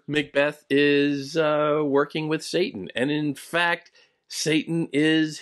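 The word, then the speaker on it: Seyton: sort of cute and it is spelled a little different but when you say it out loud in uh in a play s-e-y-t-o-n sounds like of course Satan so here it's a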